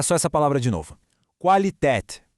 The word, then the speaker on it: Qualität: Qualität. Foca bem no comecinho. Qua. Qualität.